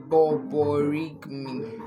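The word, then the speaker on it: borborygmi: So this sound is called borigmi. Yes, borigmi. So it's spelled b o r b o r y g m i.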